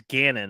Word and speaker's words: Gannon: maybe Houston and uh it's not O'Bannon sorry it's Gannon I I miss mispronounced his last name so Jonathan gannon's